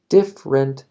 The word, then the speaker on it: different: No digas different de tres sílabas. Mejor decir different de dos sílabas. Different states.